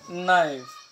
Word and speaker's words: knife: আই এফ ই তুইবা কে এন আই এফ ই তুই আরিব কনাইফ ফরানো হরিব এফ ইলিব কনাইফ ফরানো হরিব আরিব কি হজুন দে নাইফ কি হজ নাইফ কে সাইলেন্ট হবে কিয়া কে বাদ